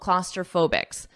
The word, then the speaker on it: claustrophobics: Listen to the pronunciation, claustrophobic. And then you add an S to it to mean all claustrophobic people, claustrophobics.